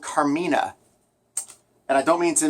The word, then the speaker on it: Karmina: But here's how you say it, Karmina. Um that's how you spell it.